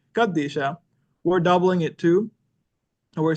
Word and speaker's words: Qadisha: kandisha or the kadisha the way um the calans pronounce it there is this idea of doubling so now the syak Orthodox the West syak folks don't have this and so they they just pronounce it as kadish show and you see there's only one the thing that makes the DU sound there's only one of it but the the doubling is implied there and we see it